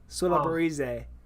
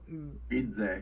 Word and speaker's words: Baridze: Suabarize. Yeah. Oh, okay. Sulabarize. Berize. There's a D. Oh, Baridze.